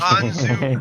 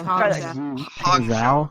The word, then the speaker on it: Hangzhou: The Hanzu Bark is Void. That was all right. Can I say properly? It's Hongzhou. Hongzhou. Yeah, it's Hangzhou.